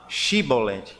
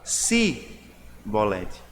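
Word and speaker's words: Shibboleth: Os efraimitas, por alguma razão, e nós não sabemos exatamente qual, não falavam Shibolete, falavam Sibolete.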